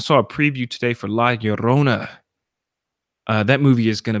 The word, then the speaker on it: Llorona: Because you're coming in with the double L's. La Llorona. You got to roll the R's.